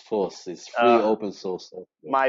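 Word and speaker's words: FOSS: I understand fos s normally pronounced force is an open source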